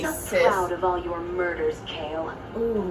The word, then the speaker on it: Kayle: she's an iron fist it is kale that's her name why do they spell it like Kaylee why they gotta be